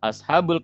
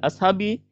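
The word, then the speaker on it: أصحاب: depan kata ashabul kahfi, maka kita membacanya ashabu pakai kata dhammah ya. Bukan ashabi, bukan ashaba, tapi kita baca ashabul kahfi.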